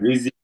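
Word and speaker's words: رزق: বাট রিজিক। রিজিক, রিজিক থেকে রাজ্জাক, তো রিজিক হচ্ছে যা থেকে, রিজিক জিম দিয়ে না।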